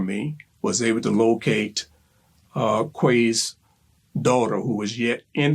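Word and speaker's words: Hue: She remembered the lady, Quay. I call her Quay. Hugh, H-U-E. It's a different way of pronunciation in, English Vietnam.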